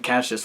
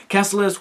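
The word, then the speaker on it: Kaecilius: learned that Casillas Cassilis I was mentioning his name wrong in the review i'm sorry i kept saying caches for some reason but it's Cassilis whatever mad matt's Mickelson's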